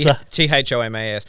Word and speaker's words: Thomas: So the H is actually there. It's not a silent letter. It's a rough breathing sound. So if you put your hand in front of your mouth and say the word Tom, you'll feel the air hit your hand.